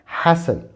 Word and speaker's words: hasten: यहाँ पर T silent है तो इसका प्रोनाउंसिएशन होगा hasten, hasten.